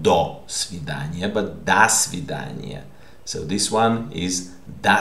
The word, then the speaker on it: до свидания: And you pronounced it not до свидания, but до свидания. So this one is до свидания, because this preposition is linked to the word. Okay, and since this A is stressed, this O is pronounced A.